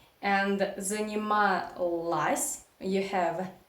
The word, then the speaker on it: занималась: Absolutely the same, we pronounce neuter form, but we write o. Занималась, занималась. So here, as I already said in my previous videos many times, Russian reduction law works here. So o unstressed you pronounce as a.